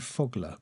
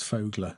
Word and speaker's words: Fogler: If you watched any of uh I would say I I would call him Dave Fogler, but apparently it's Fogler and it's his name, so we'll go with his pronunciation.